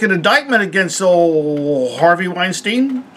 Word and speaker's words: Weinstein: indictment against old Harvey Weinstein. Larry David let me know that you pronounce his name Weinstein. I've been pronouncing it Weinstein because I'm crazy that way.